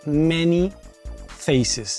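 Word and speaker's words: Man-E-Faces: La E en inglés se pronuncia como I. Entonces, cuando vos lo lees es Many Faces.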